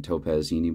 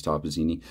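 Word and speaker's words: Toppazzini: from that 59 game i was pronouncing it topazzini but it's toppazini i may pronounce some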